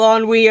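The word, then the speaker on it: ennui: ass stuff I don't know how to spell on WE I'm n n u i e n n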